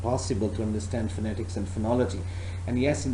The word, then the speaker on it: phonetics: pronunciation because I said if you call this word as fanatics so entire meaning are changed so that's why I requested you to call or to pronounce this word as phonetics and at the same